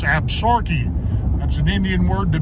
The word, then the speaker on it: Absaroka: that's the absorkees some people pronounce it absaroka but it's absorkey that's an indian word